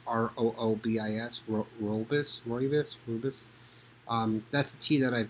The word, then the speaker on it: Rooibos: I don't know how to pronounce this properly, probably, but it's pronounced it's spelled R-O-O-B-I-S, Rooibos.